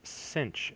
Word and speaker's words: sinh: we'll talk about is called cinch X it's spelled SI n HX and it's e to